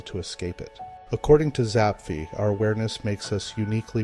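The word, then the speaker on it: Zapffe: roles and Define ourselves then came zapi often pronounced Zapf in his native Norwegian he saw human consciousness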